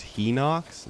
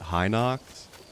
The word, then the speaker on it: Hinox: Apparently it's pronounced Hinox, not Hinox.